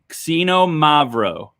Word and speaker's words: xinomavro: grape variety is called casino Mavro okay we're gonna try that again xinomavro all right it's spelled with an X the emphasis is on the Mothe part of the word so casino Mavro is